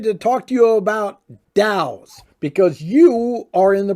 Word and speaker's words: DAO: doubt um d-a-o spell so it's d-a-o pronounced dow and what it is